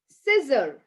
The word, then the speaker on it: scissor: where c is silent whenever c comes after s it becomes silent when c comes after s for example muscle muscle right and also scissor seen fascinate i'll just